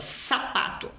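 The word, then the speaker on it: zapato: existe onde eles também vão dizer por exemplo sapato como se fosse o som forte dos dois s ou seja sapato que é o que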